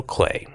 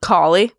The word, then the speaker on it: Kaly: we're talking to Rachel clay can I correct you yep C collie what collie collie I know oh okay